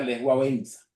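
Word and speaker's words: Lech Wałęsa: fue el caso de le balesa en polaco se pronuncia le guena Premio Nobel de la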